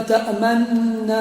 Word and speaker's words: تأمنا: على تطبيق حكم الإشمام وهو ضم الشفتين من غير أن يسمع له صوتا تقول تأمن تضم الشفتين ولا تنطق بالضم طيب ولعل كثير من